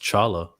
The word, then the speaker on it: T'Challa: It's actually supposed to be pronounced Chala.